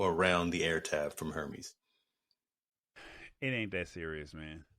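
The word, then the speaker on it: Hermès: the air tab from Hermes it ain't that serious man that's hutin brother it's not that series um outside of and and and and apparently the uh the H is silent talk a see I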